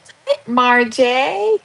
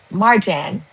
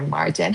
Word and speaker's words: Marjan: Marjan. Because Marjay is my son's, but you're Marjan.